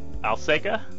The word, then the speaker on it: Alsaqa: And second, we have, returning just from our previous episode about Daredevil Born Again, we have writer extraordinaire Alsaqa.